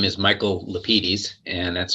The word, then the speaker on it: Lapides: And my name is Michael Lapides, and that's spelled L-A-P as in Peter, I-D as in David, E-S as in Sam. I always say it that way because that's the way my dad said it.